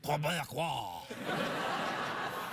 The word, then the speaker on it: Québécois: There's a few simple tricks that we can perform to make sure that we really have a genuine Québécois. That's how you pronounce it.